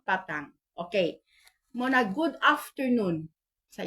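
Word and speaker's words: petang: imong Isulat sa text Salamat pitang no p e t a n g pero ang ilahang pagpronounce an Salamat patang no patang Okay muna good afternoon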